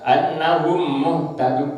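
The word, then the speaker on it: أَنَّهُمْ مُهْتَدُونَ: Annahum ditahan bacanya. Jadi diidghamkan. Suaranya mim yang pertama dimasukkan ke dalam suaranya mim yang kedua. Tandanya apa? Itu pada mim yang kedua ada tasdidnya.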